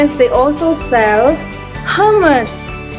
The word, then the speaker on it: hummus: smell more chicken almost hummus hummus like thomas anyway i'm gonna taste